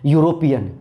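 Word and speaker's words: European: लेकिन यूरोपियन में भी ई आपका है, तो इस बार ई थोड़े पढ़ रहा है, इस बार य पढ़ रहा है। यूरोपियन, यूरोपियन, य, और य कहाँ आएगा? क से लेकर ज्ञ तक में, साउंड कैसा? कॉन्सोनेंट, तो क्या भरेंगे?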